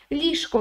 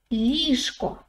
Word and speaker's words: ліжко: But if you say it quickly, it sounds more like ліжко, ліжко, ліжко, okay?